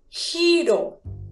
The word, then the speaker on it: giro: Ahora, quiero que mires qué pasa si junto la sílaba ji con la sílaba ro. Quiero que me digas cómo dice giro.